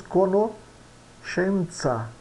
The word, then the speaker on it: conoscenza: O SC, o mínimo que nós temos que saber é que é pronunciado como CH, né? Como se fosse um X, né?